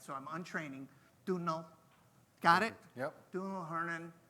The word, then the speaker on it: Domhnaill: Domhnaill.